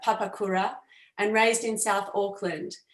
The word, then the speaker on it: Papakura: tanare was born in papukara i mispronounced that papakura and raised in south